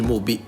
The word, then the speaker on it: MUBI: Ora commentate con l'hashtag RKHXMobi, RKH per Mobi, RKHXMobi, Mobi scritto Come si pronuncia? MUBI.